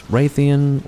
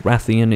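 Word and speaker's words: Rathian: what it is about this raytheon or wrathion is actually how you pronounce it if you say raytheon you're pronouncing it wrong sorry um yeah everything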